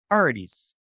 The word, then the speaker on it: Paradis: Imagine two E's. It's how I know everybody wants to pronounce. It's a two at the end. Yes. Yeah, it's Paradis. French.